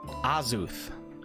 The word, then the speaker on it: Azuth: Azuth, pronounced Azuth.